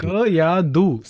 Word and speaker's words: Kayadu: Kayadu, not two, right? Somebody was saying two. No, two is not there.